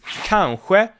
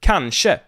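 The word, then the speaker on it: kanske: word in this case is kanghue or kanshi both pronunciations are correct and this means maybe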